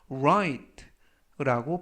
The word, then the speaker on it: right: 이번 표현은라고 하시면 되겠고요 로라고 썼지만 R 발음에 유의하셔서 right라고 발음하시면 좋겠습니다 품사는 형용사 뜻은 옳은